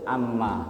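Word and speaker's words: عَمَّ: paham sampai sini itu Amma jadi Amma seolah-olah mim di tasdid itu mimnya dua Sebetulnya bukan ya mimnya satu jadi cara bacanya jangan seperti huruf-huruf tasdid yang lain ada penekanan tidak tidak ada penekanan di sini mengalir sajaal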